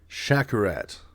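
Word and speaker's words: Przekurat: a shout out to Jay shakarat I think that's how you say his last name because that's how he's got it pronounced on his Instagram but his last name is spelled p-r-z-e-k-u-r-a-u-r-a-t so it's spelled like presecurate so I'm sure that's why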